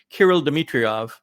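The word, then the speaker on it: Kirill Dmitriev: the gentleman from Russia is I believe pronounced Kirill Demetriovv and he's a special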